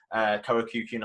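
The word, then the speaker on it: Korakuen: at the just next to the Tokyo Dome, Karakyukin Hall. That's how you pronounce it.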